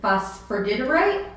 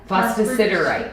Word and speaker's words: phosphosiderite: But it's phosphordiderite? Phosphosiderite. Yes. And I knew I was going to butcher it.